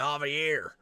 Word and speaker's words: Javier: He keeps mispronouncing Javier. His name is Javier.